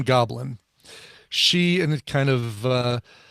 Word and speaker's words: Goblyne: Her name is Goblin, and it's spelled Goblyne. Like if her name was Lynn, she just added gob to the beginning, so she's Goblin, which I really loved.